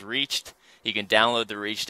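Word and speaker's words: REACHT: e a c HT it was confusing for a while but we figured out how to say it it is reached you can download the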